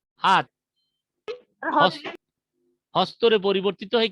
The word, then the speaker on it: হস্ত: তো এর এর উদাহরণগুলো হচ্ছে, যেমন সংস্কৃত হস্ত শব্দটি প্রকৃতিতে ছিল হস্ত। এই যে হত্ত, হত্যা না, কিন্তু উচ্চারণ হচ্ছে হ ত থ, এইভাবে আর কি।